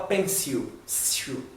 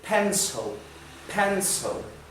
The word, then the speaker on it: pencil: A gente aprende na escola pencil, e essa pronúncia não é correta. Isso aqui é pronunciado pencil.